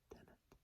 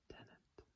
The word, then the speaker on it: tenant: Tenant. Not as in David Tennant, though I do like him. Still to this day my favorite doctor. Tenant.